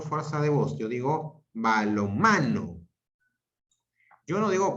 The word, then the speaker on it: balonmano: Yo digo balonmano. Yo no digo balón, mano. Digo balón, mano. Diferente. La pronunciación es diferente. Yo digo balonmano. Yo no digo balón, mano. Es distinto.